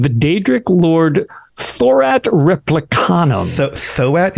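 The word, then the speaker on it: Tho'at: Thoat? It's THO apostrophe AT. Thoat. Again, my pronunciation. Well, I'm just reading it. I'm spelling it out so everybody knows. Thoat?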